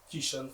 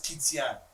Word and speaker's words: Keishan: I thought it was Kitian. No, some people just pronounce it like Keishan, but I tell them it's like Haitian. If you see how Haitian be, it's the same way.